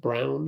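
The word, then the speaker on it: Christian Braun: It's pronounced Brown, I learned last game.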